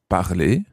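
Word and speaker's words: parlent: If we go to the verb parler, to speak, how would you say they speak or they are speaking in the present indicative?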